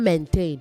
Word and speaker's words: maintain: Also say maintain, not maintain. Main. It is main plus tain. Main- tain, okay?